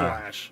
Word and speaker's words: Loesch: it's spelled Loesch, but it's Lash.